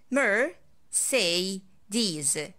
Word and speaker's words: Mercedes: video is mercedes again we can divide this brand into three syllables in order to make it easy for you so i say mer say these mercedes mercedes i saw two mercedes crash